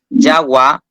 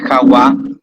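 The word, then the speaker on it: jagua: El sonido va a ser igual, no va a ser Jawa, GGK, Joalhu ni Juru. Va a ser igual que la J del inglés o la consonante Y del español.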